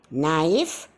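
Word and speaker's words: knife: परंतु अगर के बाद इमीडिएटली एन आता हो तो के साइलेंट बन जाता है। अजीब बात है ना दोस्तों, के अपनी आवाज़ ही खो बैठता है। इसका उदाहरण है नी, नाइफ, नो और नॉक।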